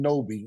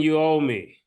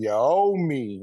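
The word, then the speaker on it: Anunoby: trade with OG and noi am I pronouncing the name right murder no it's OG and you ow me OG and your oh me okay whatever however you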